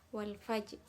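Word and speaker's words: والفجر: Dari ayat yang pertama, wal fajr. Alif lam di situ bertemu dengan huruf fa, maka disebut idhar qamariyah. Maka bacanya terang ya, tanpa ditahan. Wal fajr.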